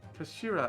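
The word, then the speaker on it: 頭: end of the hilt it's written as the head in japanese but it's pronounced as kashira i believed kashira so mr soki's word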